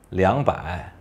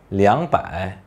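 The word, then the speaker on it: 两百: yang berarti ratusan maka kita bisa memilih untuk membacanya arbae atau liang baik untuk darah Tiongkok Utara lebih sering mengucapkan arbae Sedangkan untuk Tiongkok Selatan lebih sering mengucapkan liang pakai berikutnya kita akan membahas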